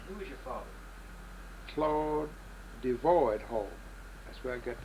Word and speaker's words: Devoyd: senior there so how should I listen I devoid whole scene that's what I am now okay okay and that devoid is spelled d v o y d a capital